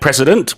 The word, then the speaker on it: precedent: If we break that precedent, well, we do something completely different, something that nobody has done before. Yeah. President Xi Jinping has started his precedent-breaking third term. Yes, very good. President하고 precedent는 발음이 달라요.